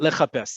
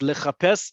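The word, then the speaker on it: לחפש: you say search uh not le japas yes le japes is um the verb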